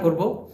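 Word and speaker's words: korek: তো চলুন ভিডিও শুরু করা যাক তো দর্শক প্লিজ খেয়াল করে দেখুন এক ভাই প্রশ্ন করেছেন করে অর্থ কি করে এটা মালয়েশিয়ান ভাষায় সঠিক উচ্চারণ হবে করে লাস্টে একটা ক আছে এটার মানে হচ্ছে খুঁচিয়ে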